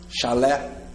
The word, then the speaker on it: chalé: Depois, com E, chalé ou café. Chalé, pode ser. Eu separo. Chalé, sílaba tônica é a última, oxítona termina em E.